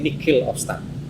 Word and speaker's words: nihil obstat: Karena ada yang namanya itu nihil obstat. Bacanya tulisannya nihil obstat, tapi mocone nihil obstat.